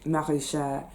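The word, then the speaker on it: maraîcher: called long green marichere it's actually in french it's ver long marisha you will find it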